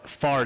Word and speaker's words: Fard: It's not Fart. No, Fard. It rhymes with hard.